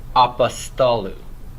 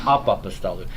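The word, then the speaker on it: apostolou: So no, you're not going to pronounce the O anymore, the omicron. So it's apostolu. Apostolu. Not apa-apostolu, but apostolu.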